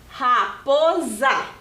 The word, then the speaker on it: raposa: Sa, raposa, né? O S aqui tem o som de za, raposa, certo?